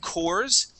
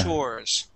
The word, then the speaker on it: chores: word uh chores now instead of coors okay chores chores i can there's a